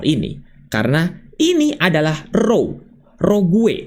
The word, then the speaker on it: rogue: Jadi ya sudah teman-teman jangan pernah instal ini karena ini adalah row rogue dibacanya atau ditulisnya adalah rogue dibacanya adalah rog yang artinya adalah antivirus yang menyamar.